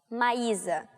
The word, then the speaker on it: Maisa: math and stuff and my name is my ISA so in Brazil we pronounce a as aa so nice ah okay